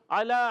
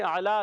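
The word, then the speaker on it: أعلى: اعلیٰ عین ادا ہوتا ہے حلق کے درمیان والے حصے سے. اعلیٰ لام پر کھڑا زبر، کھڑی حرکات ایک الف کھینچ کر ادا کریں گے.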